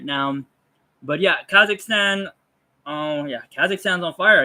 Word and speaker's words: Kazakhstan: Kazakhstan.